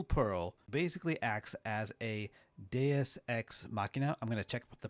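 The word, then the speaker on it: deus ex machina: So, in Starflight, the Crystal Pearl basically acts as a DSX Machina. I'm going to check the pronunciation on that. Let's see here. DSX Machina.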